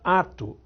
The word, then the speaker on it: ato: perdeu um dos CS acto passou a ser pronunciada ato aí ela perdeu o c óptimo passou a ser